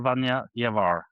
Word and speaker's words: Vanja Ljevar: Vanja Ljevar, right? That's not a bad pronunciation.